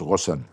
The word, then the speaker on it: Ghosn: En arabe, ça se prononce Rosson et mais c'est difficile Rosson pour des Américains des Français ou des Japonais. Gone, c'est beaucoup plus facile.